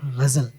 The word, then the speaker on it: ghazal: मेरे my dad actually taught me how to say the word ghazal, you know, because he said कि अगर आप